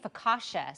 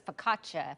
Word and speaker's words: focaccia: saying i've been saying focaccia so it's focaccia for focaccia i've been saying it wrong my whole life apparently oh this is